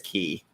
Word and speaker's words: Ke: He and it's pronounced Key, right? He and Key, who were together, back in the Encino Man days.